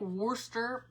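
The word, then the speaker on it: Worcester: right now but it's it's not really spelled like Worster but if you know you know because that's how they say it that's where he was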